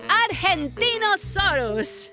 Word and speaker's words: Argentinosaurus: Devo I'm the Argentinosaurus whoa that is a big name for a big Dino I have to break it up to say it right R gen teen oh sore us that's me so I'm